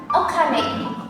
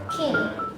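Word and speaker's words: 金: Salah satu contohnya itu ada okane untuk kunyominya. Lalu untuk onyominya itu dia dibacanya kin.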